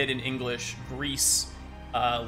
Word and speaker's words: Gris: and your grill uh because that's how it's pronounced in Spanish but it means gray and that fits with